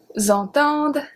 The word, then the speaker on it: entendent: We do, however, pronounce the D at the end of il and elle because we have ENT after.